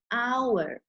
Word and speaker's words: hour: H oh you are it starts with an H but it's pronounced with an O the H is silent an hour okay so therefore we